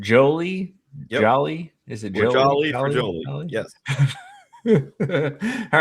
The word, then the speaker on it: Joly: Joly.